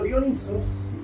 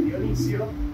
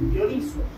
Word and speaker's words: Dionisos: el dios de la disciplina no el cambio dionisos porque no se pronuncia Dionisio todo el mundo dice Dionisio Dionisio es un nombre griego pero el Dios se llama dionisos y dionisos es el dios de la locura